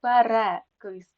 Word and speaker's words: перекис: першого префікс пере Так але перекис перепад на другу е буде наголос перепис але переляк так запам'ятайте перекис перепад